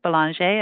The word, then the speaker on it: Belanger: But when I'm in Canada or France, I do pronounce it Belanger because it's certainly a French name. But yes. I can usually tell where someone's from when they hit the French pronunciation.